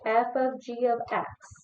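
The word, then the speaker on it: f∘g(x): The way you pronounce this is f of g of x. It's not fogg even though it does look like fog.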